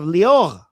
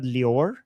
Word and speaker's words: Lior: And then we have Lior, which I always love. Ever since I learned that her name is not Lior, it's Lior, I always look forward to pronouncing her name because it's so cool.